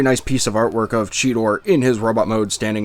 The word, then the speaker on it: Cheetor: cybertron kingdom deluxe class cheetor or cheater if you're a beast wars novice because that's what the cartoon decided to have him pronounce it as we all know it's cheetor why was it anyway